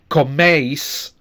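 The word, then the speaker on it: coméis: So again, we have two clear vowel sounds, eis, with the stress on the first one. Okay, comeis, use eat or use are eating.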